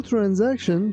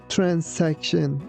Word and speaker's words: transaction: Because the clerk was new at the job, the simple transaction took a long time. Yeah. Be careful that letter S sounds like Z, not S. We don't say transaction. We say transaction.